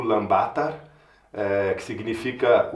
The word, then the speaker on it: Ulaanbaatar: Então, eu estou agora na capital da Mongólia, o Lbatar, eh, que se pronuncia o Lambatar, eh, que significa o